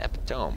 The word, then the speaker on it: epitome: I used to read epitome as epitome. Just like that looks like epitome. I'm gonna pronounce it epitome, but I think we all know now that it's not epitome. It's epitome.